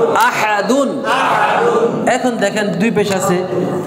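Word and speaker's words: أَحَدٌ: উপর দুই পেশ দুন তাহলে উচ্চারণ কি হবে আহাদুন এখন দেখেন দুই পেশ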